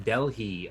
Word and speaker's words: Delhi: It's making the H come out instead of just skipping it You're, over it.